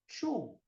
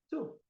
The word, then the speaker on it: two: Mas o número 2, a pronúncia não é two. É parecido, mas não é two. Porque chew é mastigar, tá? É o verbo mastigar. Então, qual que é a pronúncia correta? To. Ó, chew, to. É parecido, é seco o som, tá vendo?